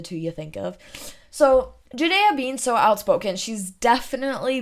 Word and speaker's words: Ja'Dayia: right because that's my name my name is Judea and that's what I want to be called Judea well that's just really interesting to me because